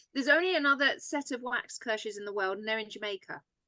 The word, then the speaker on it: Waxkirsh: It's exactly as it's spelled. It sounds as the way it's spelled. So it's Waxkirsh.